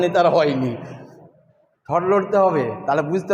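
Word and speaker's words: ح: নুক্তা না হলে হা, নুক্তা না হলে কি? নুক্তা না হলে হা। এই হাটা আগে বাতাস বেরাবে, তারপরে হা শব্দ হবে।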